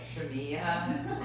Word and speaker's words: Shemia: solve a problem like shamia so i was like oh my name rhymes with maria that's how i can